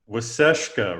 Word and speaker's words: Waasaashkaa: you've you've already mentioned waseshka right that's how i pronounce it yes that's correct so we want to